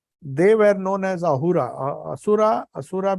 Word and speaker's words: Ahura: Asura because in Persian language, in those days, they could not pronounce Sa. So Sindhu became Hindu. Ha. So Asura became Ahura.